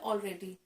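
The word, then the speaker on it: read: have रेड this novel रेडी हम पहले ही उपन्यास पढ़ चुके हैं है ना आपको पता है कि रीड रेड रड होता है स्पेलिंग सेम होती है प्रोनंसिएशन डिफरेंट होता है तो यहां प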